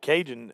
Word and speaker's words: Kaygen: That's Cajun coming into the ball game. What a great name. Cajun. Yeah, but the way it's spelled is Kaygen.